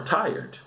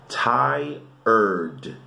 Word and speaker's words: tired: Tired, tired. Porque a escrita, né, você vê que é, parece que é a cor red. Então muitas vezes as pessoas pronunciam errado. Tired, não é red, é tired.